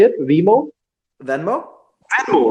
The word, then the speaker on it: Venmo: about like, Vimo. I think that's how you say it, Vimo. Venmo.